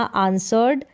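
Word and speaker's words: answer: उत्तर देना जवाब देना आंसर्ड आंसर्ड तो यहां पर जो है डब्लू जो है वो साइलेंट है आंस व नहीं बोलेंगे आंसर बोलेंगे डब्लू यहां पर साइलेंट है आंसर आंसर्ड आंसर्ड फिर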